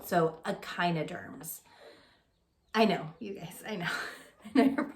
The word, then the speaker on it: echinoderms: i n OD e AR MS but it's pronounced echinoderms so it's not a chi no terms it's pronounced echinoderms so remember we've talked about